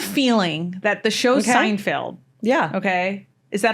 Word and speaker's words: Seinfeld: I have a feeling that the show Seinfeld. Yeah. Okay. Is that how I pronounce the name?